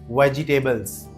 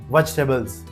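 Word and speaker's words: vegetables: बट इसकी pronunciation जो सही है that is वेजिटेबल्स। वेजिटेबल्स मी्स एंड पहले इसको शॉर्ट में वेज जी नहीं बोलना वेज बोलना है एंड लास्ट में हमने स का नहीं ज का साउंड करना है वेजिटेबल्स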